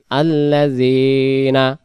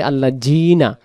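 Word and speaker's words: الذين: নুন জবর না, আল্লাযিনা, আল্লাযিনা। জাল অক্ষরটা জিহ্বার আগা থেকে। যদি আমরা বলি আল্লাহ জিনা, তখন এটা জাল অক্ষরটার পরিবর্তে জিম অক্ষর আসতে পারে।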